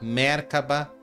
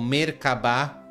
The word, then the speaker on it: Merkabah: ativando mercaba ativando mercaba Você pode falar mercaba ou mercabá respira profundamente agora sinta